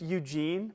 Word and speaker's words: Eugen: It would be a normal name if he weren't Swiss, but his name was Eugen Bleuler. Love that. I mean, it's just Eugene, but Eugen. That's how they say it.